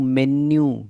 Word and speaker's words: menu: किसी ने आपसे पूछा what's your favourite dish, मेन्यू देख रहे हैं आप, इसको देखो, प्रोनाउंसिएशन, मेन्यू, इसलिए कहता हूँ वीडियो को लास्ट तक देख लिया करो। मेन्यू बोलते हैं, MENU, मेन्यू, मीनू नहीं, ठीक है।